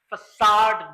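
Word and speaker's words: façade: Next क्या है, ये फसाड बोलते हैं इसको, FACAD, इसकी प्रोनाउंसिएशन पे गौर कीजिएगा, ये फसाड है।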